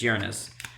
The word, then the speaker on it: Uranus: of gleaming Lord Uranus and that's how you say it's not here anuses Uranus but real quickly I want